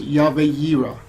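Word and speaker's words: Yahweh Yireh: that many people are familiar with and it's Yahweh zero which is more commonly transliterated as Jehovah Jireh that probably sounds more familiar to you but the name is actually pronounced Yahweh hero it translates to the ever existing God who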